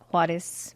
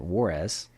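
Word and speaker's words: Juárez: So I am from a border town called Juarez, Mexico. For all of us non-Spanish speaking people, we pronounce it Juarez, but we don't pronounce it right.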